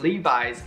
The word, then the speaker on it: Levi's: denim brand levi-strauss well you should pronounce the name Levi is a Levi's 513 skinny strike by